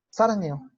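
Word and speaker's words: 사랑해요: Entonces yo no digo sarangeo, sino lo digo sin esa G. Nada más digo sarangeo, sarangeo, ¿no?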